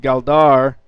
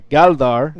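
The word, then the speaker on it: Gáldar: in the town of galdar or sorry galdar Accent on the first syllable uh and he's lived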